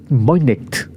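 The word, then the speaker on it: Voynich: Y también tenemos por otro lado este misterio, este caso sobre el manuscrito Boinet Boinct, así se pronuncia.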